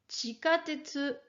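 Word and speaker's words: 地下鉄: Le mot suivant est chikatetsu. Chikatetsu, le métro.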